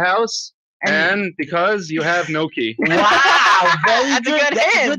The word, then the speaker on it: gnocchi: How do you say that? Gnocchi. Gnocchi. Pretend the G doesn't exist.